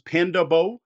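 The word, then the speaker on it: Pandabo: show notes all right the way I think this is pronounced as panda bow it's all one word it's panda Bo not body odor that'd be a very different game I guess you need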